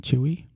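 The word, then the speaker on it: Chuy: representative Choy Chu y choy is that you pronounce it chewy chewy chewy Garcia introduced a controversial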